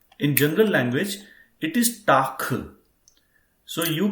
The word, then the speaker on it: Tag: So make sure that Tag itself is pronounced as Tak.